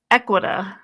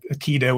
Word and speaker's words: Aequita: Now, many of our viewers are familiar with Aequita or Aequita. We've all been saying it wrong for a long time because they've worked alongside Mochi Health to provide compounded semaglutide and tirzepatide.